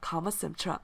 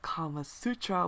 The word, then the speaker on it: Kama Sintra: Kama Sintra, and surprisingly you guys didn't catch me on pronouncing it wrong, or unless you didn't know the name of it, but it's actually called Kama Sintra. I've been addressing it as Kama Sutra, which means a whole other thing, if you know what it means.